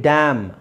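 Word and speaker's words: damn: ಆ ಮೀನಿಂಗ್ ಬರುತ್ತೆ ಹಾಗಾಗಿ ಡ್ಯಾಮ್ ಉಚ್ಚಾರಣೆ ಒಂದೇನೆ ಸೈಲೆಂಟ್ ಇದೆ ಇಲ್ಲಿ ಎನ್ is silent meaning change ಆಗುತ್ತೆ ರೈಟ್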